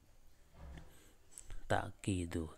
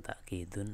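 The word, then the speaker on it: تأكيد: Ta'kidu, kita bacanya tanpa tanwin karena diatofkan kepada mudhaf ini ya. Ta'kidu wa taqwiyatul ma'na gitu. Bukan ta'kidun tapi ta'kidu wa taqwiyatul ma'na al-'ami wa fil jumlati.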